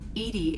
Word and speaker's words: EDI: why are you named edie edie is the phonetic pronunciation of edi that is an acronym for enhanced defense intelligence let's see how are